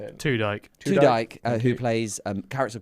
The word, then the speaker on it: Tudyk: Chuddick. How do you say it? Tudyk.